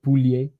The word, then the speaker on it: Pouliot: Oh my God, this guy came to Quebec and absolutely destroyed Nathan Pouliot. Pouliot. It's funny how you pronounce Pouliot even in French like that. You know, it should be like Poulier.